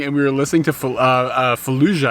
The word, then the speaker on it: Fallujah: we were listening to Fallujah I think is how you say the name of the band it's the same as the Iraqi city and it's like this